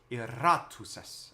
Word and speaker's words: iratus: and he was like, oh, you have to roll your R's. Iratus est. And I was like, oh, man. Oh, man. But if you just give it, you don't have to give it like a drum roll.